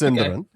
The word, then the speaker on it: Sindarin: Is it Cinderin or Sindarin or does it depend who you ask? Cinderin. It's Cinderin.